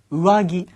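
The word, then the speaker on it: 上着: 여러분들 겉옷 자 상해를 선생님 어떻게 발음해야 돼요 우아기 우아기 땡땡 금 처리하셔야 돼요 자 그러면 바람 피우는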